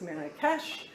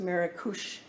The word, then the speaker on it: Marrakesh: new city of maracus we know it as marrakesh it's pronounced maracush in morocco so in andalusia we also had